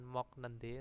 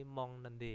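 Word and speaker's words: 먹는데: on nende gitu ya bacanya bukan mok nende tapi Mong nende ya kieknya ini berubah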